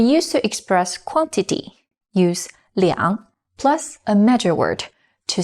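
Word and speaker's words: 两: or a phone number the number two is pronounced as are for example we used to express quantity use liang plus a major word to say to of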